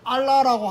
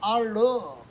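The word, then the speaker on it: الله: 근데 우리가 생각할 때는 알라라고 하면 이 뭐죠? 이슬람의 알라. 근데 이슬람에서는 그들만의 하나님을 알라라고 안 하고 알러. 그러니까 결국 이슬람의 자기들이 부르는 하나님은 알라가 아니고 알러요.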